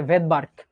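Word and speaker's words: Svedberg: উজ্জ থাকে সাইলেন্ট থাকে এরকম ভেদবার্কে এসটা উজ্য থাকবে এটা কি ভাইয়া ভেদার্ক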